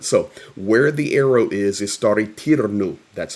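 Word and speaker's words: Staryi Terny: So where the arrow is Stary Tirnu, that's how you pronounce it, and that is where the dam was blown.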